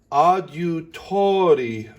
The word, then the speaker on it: adiutori: Then for adiutori nostro, the odd needs to have a DUH. So it's adieu with a pucker.